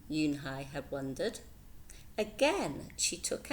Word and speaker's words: Unhei: It's spelled U-N-H-E-I. It's pronounced Yoon-Hey. "Oh, it's you-hey," said the boy.